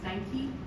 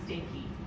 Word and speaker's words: Steinke: So what is it that, and her name is pronounced Steinke, not Stanky, and it's disrespectful to do that.